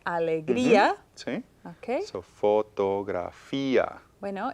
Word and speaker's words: fotografía: So fotografía. Bueno, it's a long word. It has Sounds like a 5 diphthong again, syllables.